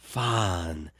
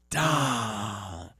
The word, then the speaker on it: Fandango: Yeah, Sweet Tea getting ready to face Fandango. And, you know, he comes out and says, you know, since you butchered my name, basically, I'm not going to come.